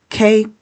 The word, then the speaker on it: cuck: is known as a CUCK. It rhymes with cluck, like a bird or a chicken clucking, cluck, cluck, cluck.